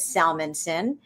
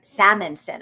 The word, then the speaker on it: Salmanson: And then my last name is Salmanson and uh everybody mangles it and says Salmanson Sal I can't even pronounce it wrong because I know how to say it right. But they're always going Salmonson. I'm always going not salmon not salmon.